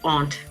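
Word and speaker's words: Hante.: Oh, we asked Helen, and she told us, and it's Aunt.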